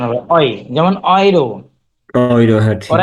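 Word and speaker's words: Euro: এর মতো উচ্চারণ হবে অই। যেমন অয়রো। ওইরো, হ্যাঁ ঠিক ওরা কি আছে। অয়রো বলে না ইউরো বলে?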